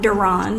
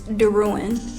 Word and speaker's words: Derwin: My last name is not Duran, it's Derwin.